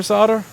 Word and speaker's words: solder: an L in your solder why is there no L in the solder because you're American your Marine Marines are not pronouncing it with solder Olga do you say solder or solder you say